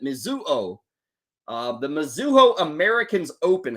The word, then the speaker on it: Mizuho: now what is this the mizuho I think is how you pronounce it mizuo uh the mizuho Americans